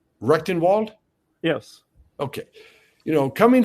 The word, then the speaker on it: Rectenwald: asking uh Dr I'm sorry I want to pronounce his name correctly recton Wald yes okay you know coming from a Marxist